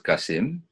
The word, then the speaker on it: CACIM: CACIM is we pronounce it as CACIM.